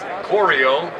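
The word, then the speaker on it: Crio: a little bit about our name Coro we spell it c r i o it's the same as Coro as in choreography to set up a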